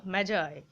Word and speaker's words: Magi: দ্যা gift of দা ম্যাজ আই বারবার বলছি উচ্চারণটা ম্যাগি করে দিও না খেয়ে নিও না যেন